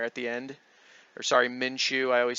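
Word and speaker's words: Minshew: zero interceptions again just fantastic they even put minsu in there at the end or sorry minchu I always say his name wrong they put minchu in there because the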